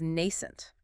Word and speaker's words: nascent: Next is nascent. N-A-S-C-E-N-T. Nascent. 2 syllables. Stress on the first.